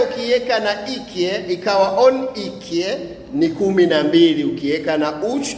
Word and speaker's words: iki: Na namba moja kwa kituruki hutamkwa bir bir na namba mbili utamkwa ikie.